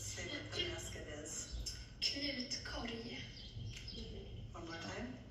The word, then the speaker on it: Knutkorg: Knutkorg. Thank you. Did anybody here know that? Yep, no. Yes, no? So that's From the other- French? No, that's the Swedish. That's the real pronunciation for the basket.